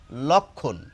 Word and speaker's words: লক্ষ্মণ: ক খওকার ন লক্ষণ আর রামের ভাইয়ের উচ্চারণ হচ্ছে লক্ষণ এই ল এর সঙ্গে ওকার আসবে না এখন কি কিছু মানুষ